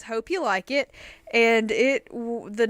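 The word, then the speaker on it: Hopeulikit: now what would you say that was Mitch hope you lick it that's what I said but no it's actually hope you like it Georgia today we came it looks like hope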